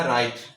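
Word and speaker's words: write: जैसे हमने कहा राइट आर से पहले आया ये आपका साइलेंट है।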